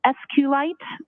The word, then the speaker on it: SQLite: lowercase i t and sqlite uh is also commonly pronounced as esite so both pronunciations are acceptable there was so much